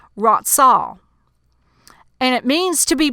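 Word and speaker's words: רצה: So the meaning of affection in the Hebrew, it's pronounced ratzah.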